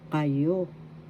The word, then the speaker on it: kayo: Kayo. Kayo. That means you all, plural, more than once. First syllable ka, second syllable you. Kayo. Second syllable has the accent.